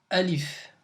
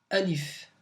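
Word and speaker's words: ألف: ça s'écrit comme ça voilà donc ça se prononce Alif je répète Alif encore une fois Alif on va refaire donc on va récrire la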